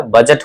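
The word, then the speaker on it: budget: बजट होता है। बजट means लेखाजोखा होता है। जी से पहले डी है। साउंड नहीं होगा।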